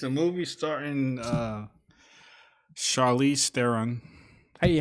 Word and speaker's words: Theron: It's a movie starring Charlize Theron. Hey, how do you pronounce your last name? Is it Theron? It's Theron.